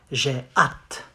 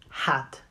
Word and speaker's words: j'ai hâte: You say, j'ai hâte. J'ai hâte. Not hat. The H is silent.